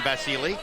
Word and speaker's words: Vasyl: So he pronounces his name Vasily.